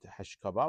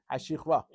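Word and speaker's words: השכבה: How do you say it? Hashichva? Shichva. Okay, very nice. So I learned one word today. Hashichva. Very good. I know. Actually, I was sure it's not Hashkava, Baruch Hashem.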